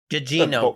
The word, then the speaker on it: Gugino: Anyone know how to pronounce that? You nailed it the first two times, I think. Gugino.